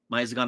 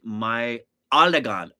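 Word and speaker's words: Meiyazhagan: It's pronounced La in Tamil. Maizagan is pronounced My Alagan.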